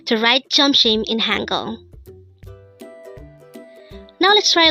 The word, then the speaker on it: 점심: JEOMSIM. JEOMSIM. This pronounced as a two-syllable word. The first syllable is jom, second syllable is shim. Pronounce it with me. JEOMSIM. JEOMSIM.